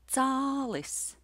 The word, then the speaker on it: cālis: The first word is pronounced čalis, and the second word is pronounced cālis.